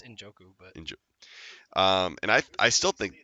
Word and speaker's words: Njoku: I think it's Njoku, but And I still think he's got potential as being a great tight end.